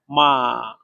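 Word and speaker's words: 马: তাহলে এটা উচ্চারণ হবে মা, মা, মা।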